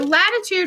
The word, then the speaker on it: latitude: started with latitude so latitude rhymes with flat right right lat rhes with flat latitude goes around the